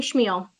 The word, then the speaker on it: Chmiel: name for the record schmiel it's spelled c-h-m-i-e-l thank you very much